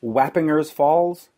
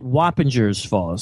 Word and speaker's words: Wappinger Falls: from Montreal but it's Wappinger Falls see I always pronounced it Whoppers Falls see I don't know how to pronounce it yeah I I pronounced the G with a J sound but uh really uh